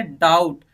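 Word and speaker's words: doubt: भी लेटर्स हैं उसको हमें क्या करना है प्रोनाउंस करना है फोर्थ देखिए फोर है डाउट दी ओ यू बी टी तो यहां पे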